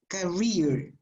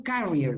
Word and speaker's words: career: The stress is career, no carrier, because carrier is something different.